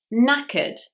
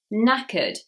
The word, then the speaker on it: knackered: Number 53, knackered, knackered. The first K is silent.